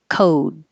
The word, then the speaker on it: code: coat and number seven code so they go to the same position the T and the D behind the top teeth when the word ends